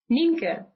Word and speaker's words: Nienke: we start how do you say your name ninka n ninka ninka ninka n okay there's no